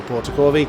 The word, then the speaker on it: Portacorvi: We have been saying it wrong, for which I wholeheartedly apologise for. It's Alessandro Portacorvi. I'm saying it with the Spanish method, but there he is in the BMW, Alessandro Portacorvi.